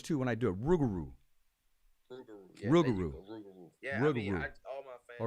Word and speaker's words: Rougarou: of the world Mr rigaroo oh you gotta say it right baby oh rigaroo you always say Wrigley you always say Rick rugaroo well thanks for correcting me Rougarou okay I'll make my